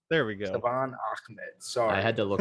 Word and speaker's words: Salvon Ahmed: Yo, Salvon Ahmed. There we go. Salvon Ahmed. Sorry. I had to look up how to pronounce it to make sure I didn't mess it up again like last year.